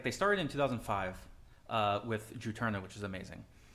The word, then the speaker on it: Juturna: Oh, and that's how you say it, Katie. Juturna? Juturna, gotcha. What'd you say? I've never heard it pronounced. So I don't know. Oh, we were hoping you knew. I think I said Jutunra.